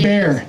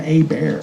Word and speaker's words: Hubert: Ibert, John Ibert. John You gotta Hubert. pronounce it like Ibert.